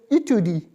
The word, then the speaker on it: étude: So separately, study will be pronounced as étude. Étude, as I said in the previous lesson, for new users, I am repeating once more. E with right side tilted apostrophe will give a sound of A.